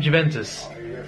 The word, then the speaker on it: Juventus: good attack give him Juventus Juventus that's how you pronounce it sorry by Munich